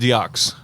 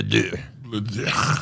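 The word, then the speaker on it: deux: And I thought it was pronounced Diox, but we were all corrected. Is correctly pronounced Le Dieu.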